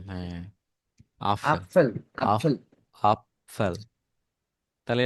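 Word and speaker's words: Apfel: আপফেল।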